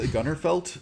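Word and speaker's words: Gunnerfeldt: this guy pele gun gunnerfeld uh gunner felt is how you pronounce his name but he did a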